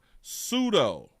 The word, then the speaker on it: pseudo: Sudo. No, not pull-up pseudo. Pseudo. Pseudo is pronounced sudo is a prefix derived from the Greek meaning false fake shame.